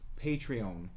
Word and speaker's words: Patreon: They have I found out how to pronounce it. It's Patreon.